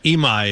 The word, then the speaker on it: Imai: Uh Imai is his last name.